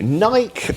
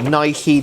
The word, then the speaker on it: Nike: Of course, we also went into Nike, or Nike, depending how you say it.